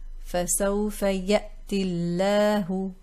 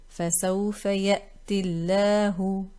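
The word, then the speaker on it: فَسَوْفَ يَأْتِ ٱللَّهُ: So this is mad ya. We drop the mad and we connect this ta with lafz al-jalala, the lam lafz al-jalala. فَسَوْفَ يَأْتِ اللَّهُ فَسَوْفَ يَأْتِ اللَّهُ.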